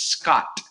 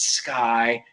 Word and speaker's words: Sky: They thought it was Scott. And so I was constantly saying, no, it's Sky.